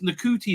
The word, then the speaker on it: Ncuti: Millie, no, it's Ncuti now, right? Ncuti. You're not supposed to say shoot.